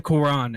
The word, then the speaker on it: Quran: solid religion it would literally like um the quran is that how you pronounce it yes i i just love the